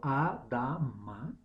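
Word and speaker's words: אדמה: Y el suelo del cual Adán fue creado, pronunciado Adama, Aleph, Dalet, Mem, Hei, tienen la misma raíz, lo que indica una conexión muy fuerte.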